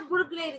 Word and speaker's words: burglary: The pronunciation of this word is a burglary, right? Burglary. Many people they speak like this as well, burglary. So burglary, burglary. So actual pronunciation is all about burglary, burglary, right?